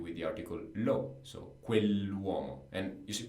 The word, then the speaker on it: quell'uomo: So quell'uomo. And you should pronounce it perfectly. When we have an apostrophe in Italian, it becomes like a very long word.